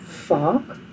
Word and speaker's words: vaak: Now remember, the V is pronounced as an F in Afrikaans, like vaak.